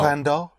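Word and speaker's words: cuando: No quando. Right. And And there's only one push.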